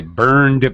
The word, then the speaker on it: burned: my hand okay I burned my hand now it's a D sound not e ID not t but D so this is what